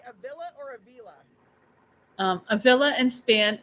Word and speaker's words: Avila: Avila in English, Avila in Spanish. Okay, Whatever's easier for people to say. I always said Avila because Yep, that's cool. most of my friends are Hispanic, so Yep, I like that. pronounce it how they pronounce it.